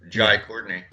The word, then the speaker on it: Jai Courtney: Oh yeah, that was fun to cover him, Jai Courtney. Thank you for pronouncing it correctly.